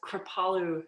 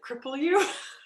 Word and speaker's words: Kripalu: that is known as Kripalu yoga, which unfortunately, when that is spelled, it's it's spelled Kripalu, and a lot of people mispronounce it cripple you, which obviously I'm not here to do that.